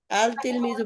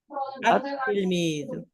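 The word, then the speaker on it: التلميذ: তিলমিজুন শব্দের শুরুতে আলিফ লাম লাগাই দেই, তাহলে আর আল তিলমিজু বলা যাবে না, কি বলতে হবে? আত তিলমিজু। দেখেন এখানে লেখা আছে, লেখায় লিখতে বেলা লিখতে হবে লাম সহ, আর উচ্চারণে লামের কোনো উচ্চারণই থাকবে না, বরং ওই পরের লামের পরের অক্ষরটা তাসদীদ থাকবে।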